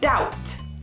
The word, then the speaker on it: doubt: We don't say doubt, we say doubt. Doubt. So it is quite strange that there's a B in this word that we don't pronounce, but this is just how it is spelt.